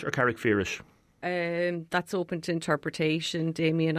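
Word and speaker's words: Carrickfergus: Mary Carberry, you are librarian in Carrickferris Library. We're talking about the Irish Book Awards. Carrickferris or Carrickferris? That's open to interpretation, Damien. I'm a blow-in from another county, so I call it Carrickferris as it's spelled, but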